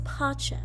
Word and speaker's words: Pacem: Before we get started, let's talk about the pronunciation of all the words. So repeat after me. Dona, Nobis. Dona, Nobis, Pacem.